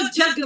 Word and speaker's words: यज्ञ: तो आप कभी कभी देखिए, कोई खासकर जो बाबा रामदेव जी हैं, यज्ञ को जग बोलते हैं, ज्ञ, तो वो है ज अक्षर से बना होता है।